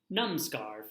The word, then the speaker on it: Namaskar: Namaskar friends today's greeting comes from the land of India it is pronounced pronounced nam scar mama scar it means